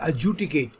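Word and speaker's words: adjudicate: और ऐसे शब्दों में बच्चों, ये जो एडजुडिकेट वर्ड है ना आपका, इसमें डी पहला वाला बिल्कुल साइलेंट है, ध्यान रखना, फर्स्ट सेंटेंस इसको प्रोनाउंस करोगे एडजुडिकेट, ठीक है।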